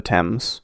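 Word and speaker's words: Thames: from the eye itself going up over the temps which is spelled themes for some reason um the English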